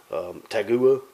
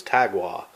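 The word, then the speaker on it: Tagua: hear people pronounce it Americans out here but Americans announce it pronounce it hey guru all the time and every but I think the actual correct way to say it is Chi Gua and this is the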